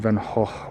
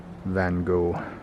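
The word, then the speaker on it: Van Gogh: to I used to Vincent Van H was one of my H you got to say it like that or to the uh uninitiated you call it Vincent Van go used to do a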